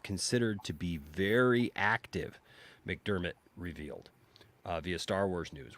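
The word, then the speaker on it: McDiarmid: convention star wars vet ian mcdermott uh or ian mc diarmed i've never pronounced it right so mcdermott it's mcdermott it's ian mcdermott yeah it's ian mcdermott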